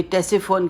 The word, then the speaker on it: Ctesiphon: तो ये जो जगह है, इसको यानी मदाइन जो जगह है आज, ये टेसिफोन कहलाता है। टेसिफोन के स्पेलिंग हैं CTESIPHON, टेसिफोन।